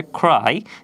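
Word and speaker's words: cry: ক্রাই এর শুদ্ধ উচ্চারণ যদি আমরা দেখি তাহলে এখানে বলা হয়েছে ক্রাই, যেখানে খ এর মতো উচ্চারিত হয়েছে যার অর্থ হচ্ছে কান্না করা।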